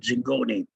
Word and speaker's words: Zingone: time called louis zingone d-i-n-g-o-n-e i think but he pronounced it zingone came up with a